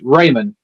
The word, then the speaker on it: Raymon: It's Raymond without the D.